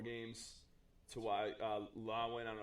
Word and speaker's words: Lewan: That Taylor Lewan.